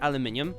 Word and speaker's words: aluminium: So 60% of people say aluminium. That's just the correct way to say it. It's how it's spelled. Why would you not say it the same way?